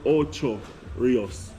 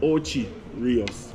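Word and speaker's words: Ocho Rios: honest with you know the proper name word for it is oo Rios M but in Jamaica we call it oios where is o c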